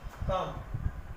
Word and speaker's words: comb: जैसे example COMB, आपने पढ़ा होगा COMB। हम पढ़ते हैं कॉम, न कि कॉम। हम क्या पढ़ते हैं? कॉम। थम, बॉम, डम। ठीक है, यहाँ पर बी का प्रोनाउंसिएशन नहीं होता है, बी यहाँ पर साइलेंट होता है।